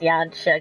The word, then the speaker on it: Yansha: It's pronounced Yansha, guys. I've been saying it wrong this entire time.